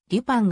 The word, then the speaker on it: Lupin: 及びシリーズの総称日本では慣例としてルパンと訳されているが発音としてはリパンがもと音に近い 20世紀初頭の翻訳